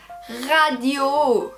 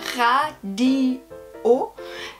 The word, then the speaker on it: radio: Et là, on va aussi avoir la prononciation de toutes les voyelles, radio. Mais l'accent, c'est à la fin. Alors, en français, on a une tendance de faire ça, on met l'accent des mots à la fin.